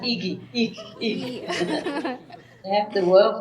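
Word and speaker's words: Igy: It's I-G-Y. Pronounced Iki.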